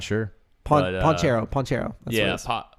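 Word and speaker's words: Banchero: Or Pontero? Oh gosh, what's his name? I don't even know how to I'm pronounce not sure. his name. I'm not sure. But, Ponchero. That's yeah, what it is. Paolo Bonchero.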